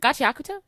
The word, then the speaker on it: Gachiakuta: Gachiakuta.